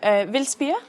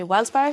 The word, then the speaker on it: Vildspire: So, Vildspire, as you pronounce it in Danish, a lot of internationals say Vildspire, found by me.